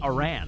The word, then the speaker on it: Aran: the game does not know how to pronounce the main character's surname. If it did, it would be pronouncing it Aran.